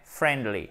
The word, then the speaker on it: friendly: Et on ne prononce pas évidemment le i. Ce n'est pas un friend, c'est un friend. Ce n'est pas friendly, c'est friendly.